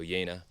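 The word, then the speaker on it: Jena: amazing this next one is a Carl Zeiss flectagon yena pronounce yena this is German so yena Carl Zeiss yena flectagon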